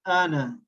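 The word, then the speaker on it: أنا: So now in the coming letter, let me tell you that this alif with noon won't be pronounced. It will be ana.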